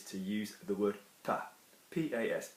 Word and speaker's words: pas: use the word pas, P-A-S, pas. We're not pronouncing the S because there's not an E after it, okay?